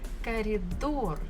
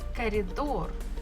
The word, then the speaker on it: коридор: Коридор. Коридor. We also have bukva O and bukva R. Коридор. Stress falls on the final syllable or door. So that's it. Коридор. Это коридор.